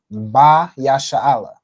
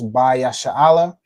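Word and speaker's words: בישראל: So right here we have Ba Yasha'Allah. All right, so Ba is a word which means in, on, or with. Okay. So in this case, Ba Yasha'Allah would be, you'd use this as on Israel.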